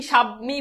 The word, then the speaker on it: স্বামী: তাহলে এই যে দেখো আদ্য, শুরুতে বফলার কোনো উচ্চারণ নাই, তাহলে এটার উচ্চারণ কি হবে? আমরা জানি দন্তস্বরের সাথে তালব্য যুক্ত, বফলা যুক্ত হলে সেটা তালব্য হয়ে যায়, তাহলে কি হবে? স্বামী। আর দীর্ঘিকার রসিকার হয়ে যায়।